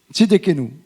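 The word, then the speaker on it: Tsidkenu: avait Tit que nous tit que excusez-moi la prononciation vraiment je suis désolé. Comment ? Oh là encore mieux. Tidenou. Tidquenou.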